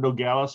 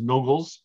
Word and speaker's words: Nogales: Well, and we have Nogales, which some people pronounce as Nogles.